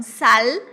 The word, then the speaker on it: sal: Porque o L do espanhol a gente pronuncia lá no céu da boca, então sal.